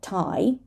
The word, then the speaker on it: Thai: vehicle vehicle dark l this is not thigh but Thai this is Thomas right